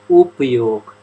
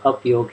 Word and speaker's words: Upayog: time, many years, Katja, so I would like for you to say Upayog. I know it says Apyog here. Upayog, yeah, of course, I will say that. Upayog, okay. Alright, so. Also richtige Aussprache ist Upayog.